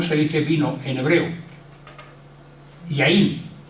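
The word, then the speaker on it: יין: Yaín. Yaín, que se escribe Yod Yod Nun.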